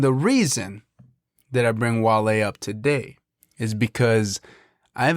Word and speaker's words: Wale: It's Wale. There's an accent on the E.